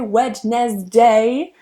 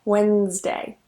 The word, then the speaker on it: Wednesday: next one is Wednesday notice that I don't say wet nest day Wednesday here the D is silent it's only two syllables okay Wednesday Wednesday now that D